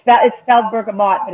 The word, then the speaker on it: bergamot: it's that it sells bergamot that it's pronounced burger mold ber GA MOT oh and if you're